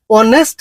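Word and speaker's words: honest: 2021 আরও 2024 সনতু আহিছে পাচ নম্বর ডস অনেস্ট ম্যান ইন পাচ নম্বর অনেস্ট ম্যান ইজ রেসপেক্টেড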